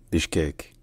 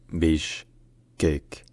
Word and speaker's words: Bishkek: Landscapes of kown in kurz the city is pronounced Bish cake Beach cake with the emphasis on the last level Bach cake Bish cake Bish cake all right if you enjoy learning